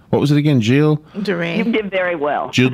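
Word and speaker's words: Gilles de Rais: hear about this guy whose name I couldn't pronounce. What was it again? Gilles DeRay. You did very well. Gilles DeRay. I had to look it up. I couldn't either. When I first went, I called him Giles, and when I said, "Where is Giles' home?"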